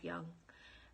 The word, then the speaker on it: Jung: yeah carl jung um so his last name is spelled j-u-n-g his full name is carl gustav young and he was a